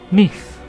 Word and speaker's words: knife: In Middle English, it was pronounced knife, but after the vowel shift, the K became silent and the E turned to diphthong I.